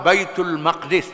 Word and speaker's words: Baitul Maqdis: Di saat ini juga Allah memerintahkan supaya dipindah kiblat dari berhadap ke arah Baitul Maqdis, bukan Muqaddis, itu salah saja.